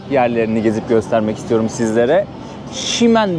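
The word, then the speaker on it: Ximen: Şimen bölgesine geldim. Umarım doğru telaffuz ediyorumdur. X'le yazılıyor. X M E N Şimen bölgesine geldim.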